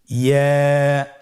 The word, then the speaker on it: ইয়া: ইয়া হরফটি উচ্চারণের ক্ষেত্রে বারিক হবে এবং 1 আলিফ টেনে পড়তে হবে। ইয়া।